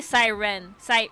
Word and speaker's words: Cyrene: That is clearly Siren. Or Cyrene. That E is silence. You don't pronounce it. Cyrene. Siren. That's Siren. That E is silent.